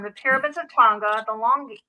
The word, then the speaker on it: Langi: The pyramids of Tonga, the Longi. How do you pronounce it? Longi? Oh, I didn't know they called it that. The Langi, yeah.